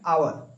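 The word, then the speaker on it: hour: आवर क्या बोलते है आवर तो आवर का स्पेलिंग होता है एच ओ यू आर लेकिन एच एच एच आपका साइलेंट रहता है। उसमें उसके जगह आवर का आ का साउंड आता है।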